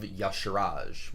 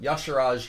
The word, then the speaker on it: Y'Shaarj: to talk about is Mark of Yasharaj, which I think is the correct pronunciation. I'm sure people gave me lots of feedback uh in the comments before, but Yasharaj, I think that's right.